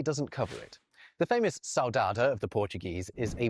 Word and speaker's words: saudade: Oxford English Dictionary is saudade. I've just said it in a terribly British way, but it's a Portuguese word pronounced like this in Portugal and this in Brazil.